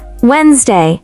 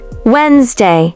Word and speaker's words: Wednesday: It looks intimidating on paper. Incorrect. Wednesday. Correct. Wednesday. Short, smooth, and natural.